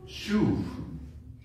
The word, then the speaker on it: shuv: You pronounce it shuv. Shuv.